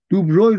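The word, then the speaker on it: de Broglie: بر بر بر دوبروی البته خیلی تلفظش دوبروی درست نوشته نوشتنش عجیبه عجیبه عجیبه د د د بروی نوشته میشه دوبروی خونده میشه دوبروی را به صورتی که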